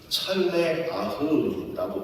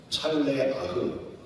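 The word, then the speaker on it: צלח: 성경의 형통은 찰레아흐라고 발음을 합니다. 찰레아흐.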